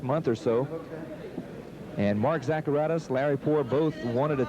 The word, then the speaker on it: Zacharatos: Our winner by technical knockout, Mark Zacharatos. And pronouncing Mark Zacharatos as Zacharato, but still it's a win, and he'll take it either way.